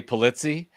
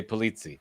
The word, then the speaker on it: Pulizzi: And Joe, and I'm pronouncing this right, Pulizzi? That's totally acceptable. In the States we say Pulizzi. But if you were in Sicily, you'd say Pulizzi.